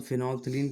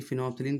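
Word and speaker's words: phenolphthalein: तो अगर हम फिनॉल्फ्थलीन की बात करें, फिनॉल्फ्थलीन फिनॉल्फ्थलीन जो है ये क्या होता है, इसमें ये इसकी स्पेलिंग पे भी ध्यान दीजिए, PHENOL PHTHALEIN, फिनॉल्फ्थलीन।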